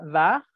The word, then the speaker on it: war: Nico, se pronuncia war, la W es una V, war, y gar, tal cual, gar.